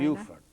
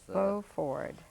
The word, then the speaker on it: Beaufort: Beaufort. Beaufort. Beaufort. Oh, B-E-A. Uh-huh. Beaufort. Beaufort. Yes, that's... Beaufort. In English, they pronounce it Beaufort when it's French, and it's Beaufort.